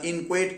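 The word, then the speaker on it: inchoate: इन्क्वायट चा अर्थ काय आय एन सी एच ओ ए T spelling आहे त्याचं इन्क्चुअट आहे स्पेलिंग पण उच्चार त्याचा इन्क्वायट क्राईम आहे म्हणजे अपूर्ण गुन्हे अपूर्ण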